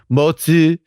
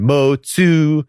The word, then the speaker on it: Mozi: The Moist thought they did spell it without the H. So we didn't even say, yes, Mozi and Mo-tzu, and we have all the same transliteration problems we had with the Tao.